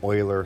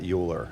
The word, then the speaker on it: Euler: below which is an Euler circuit okay first of all first of all the way to pronounce that is Euler not Euler it doesn't rhyme with Ferris Bueller it is Euler so that's first thing